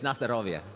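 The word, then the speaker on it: на здоровье: You said Nastro. That doesn't mean anything. It's Nastrovia.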